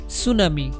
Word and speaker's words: tsunami: এখানে correct spelling হচ্ছে সুনামি TSUNAMI সুনামি। এখানে টি যে লেটারটি আছে সেটি সাইলেন্ট থাকবে, তাইলে সঠিক বানানটি হচ্ছে TSUNAMI সুনামি।